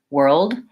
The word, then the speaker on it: world: voiced D sound world I like to think about it as being two syllables even though it's a one syllable word world it's helpful to go more slowly and say world world and make sure you have